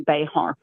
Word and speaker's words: Bexar: So, tell everyone about Bear County. It's it's spelled how? B X A R. So, if you were Spanish, it would be Bayhart.